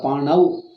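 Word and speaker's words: पाणौ: Pano alla, panau. Panau. Panau means panau. Is there no difference? Difference is there. Then don't say pano.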